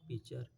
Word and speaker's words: pitcher: द पीचर, PITCHER, इसको T silent हो जाता है, इसको पढ़ते हैं पीचर।